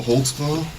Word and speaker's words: Holtzclaw: there because I don't even know how to spell it how do you say your name Daniel holtzclaw holtzclaw what is that it's a German can you